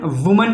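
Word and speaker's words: women: मैन का मैन, वुमन का विमेन। अच्छा एक बात और है, ये प्रोनाउंसिएशन बड़ा ही डिफरेंट टाइप में है। ये वुमन है वुमन, और ये वीमेन है वीमेन, रट लीजिएगा भैया।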